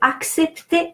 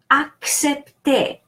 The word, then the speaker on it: accepter: Ac, so the first C is K because it's followed by the second C. The second C is pronounced S because it's followed by E. So CE is pronounced se or se. So that second C is pronounced S. The first one is K because is followed by a consonant. P, T, and the final ER is pronounced E because final ER and EZ, that's another rule, are pronounced E.